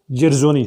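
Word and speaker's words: Dzierzon: इसको पढ़ते हैं जेर, जैसे जे से शुरू होता है, ज़ेरज़ोनी, ठीक है, ZONO।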